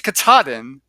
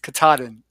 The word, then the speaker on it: Katahdin: It's Katahdin, or no, it's not. It's Katahdin, because I always say Katahdin, and it's actually Katahdin, Maine.